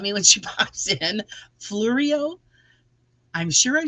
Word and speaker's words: Fleureo: Fleureo.